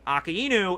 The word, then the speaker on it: Akainu: But then also people do AKAI, so they do that as the first syllable, and then nu as the second. So Akai Nu. Sometimes they say it that way.